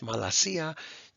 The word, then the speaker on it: malacia: So this is pronounced in English, malasia. To anybody who is snickering at malakia, I can't comment on it here.